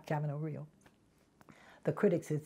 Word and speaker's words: Camino Real: When I played Marguerite Gautier for Michael Kahn in in Camino Real, and that's the way it's pronounced. It's not Camino Real. It's the American Camino Real.